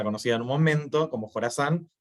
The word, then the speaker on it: Khorasan: Pero bueno, la K es por Jorazán, que no tiene mucho sentido en español, pero Jorazán en inglés se escribe como KH.